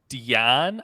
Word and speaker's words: Dian: They have Crisp, and they have Dian, I think is how you say it. Dian? I think it's how it's like DAIN, I'm pretty sure. Yeah, it's Dian.